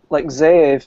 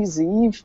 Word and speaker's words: Zeev: I say Zeev, but I know it's not how his name's supposed to be said.